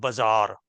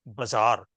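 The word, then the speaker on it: bazaar: a borrowed word and that is how it's pronounced in uh that language so somebody in English language borrows the word Bazar Bazar is an Indian word but you will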